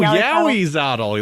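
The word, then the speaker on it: Ahuizotl: so So it's now time for me to mispronunciate Awizothol. Awizothol. Yeah. Maybe. Whatever. Zottle. Awizotl? Is that it? Zotul? No, it's Yowie. Guy. Yowie. It's Yowie. Yeah. Oh, Yowizotl. That's different.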